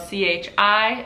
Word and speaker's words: chi: An example would be the word chi in Italian, which is spelled C-H-I, and it's pronounced like chi.